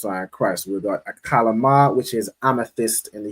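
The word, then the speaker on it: Achlamah: And it in Hebrew it is pronounced as akalama.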